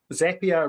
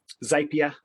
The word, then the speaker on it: Zapier: So Zapier rhymes with happier. For quite a few years, I called it Zapier, but apparently I was pronouncing it wrong.